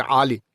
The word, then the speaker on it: Ali: It's another letter called the An, which is a guttural A, so it's Ali.